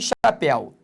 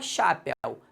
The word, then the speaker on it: chapéu: Por exemplo, aqui em chapéu. Quando eu falo chapéu, concentre. Primeiro, o el é aberto, senão seria chapéu. Segundo, o el está na sílaba tônica, porque senão seria chapéu. Não é chapéu, é chapéu.